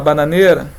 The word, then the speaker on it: bananeira: Se você falar bananeira, vai gerar dificuldade. Puxa o ar. Chama. Bananeira. Qual sílaba que se prolongou? o ne, exatamente, a sílaba tônica é o ne.